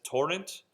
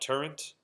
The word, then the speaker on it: torrent: All right, and that's torrent, not turrent. Technically, same word, but we want to pronounce it torrent while we're singing it.